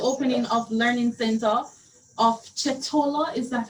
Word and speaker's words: Chetola: the opening of Learning Center of Chetola. Is that how it's pronounced? Yes, it's Chetola Parkville Nathan Education Center, and it's one of our schools that has a special education unit.